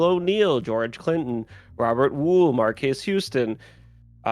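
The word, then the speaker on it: Marques: George Clinton, Robert Woo, Marquez Houston, uh I think it's pronounced Marks. Um Jay Austin Richards, Jay August Richards.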